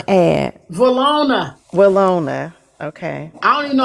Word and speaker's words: Willona: actually did not hear that you want Valona. to add? Valona. Willona. Okay. I don't even know how you even spell that.